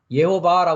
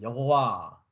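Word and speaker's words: יהוה: 여호와를 얘기하고 있단 말이죠 여호와 그래서 히브리어 발음으로는 예호바입니다 예호바 예호바 한글로는 여호와 하고 있고요 어 영어에서는 제호바 하고 있습니다 그래서 저는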